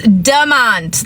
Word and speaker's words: Demont: It's demont, like demon. We're on demon time. Demon, little t, little e.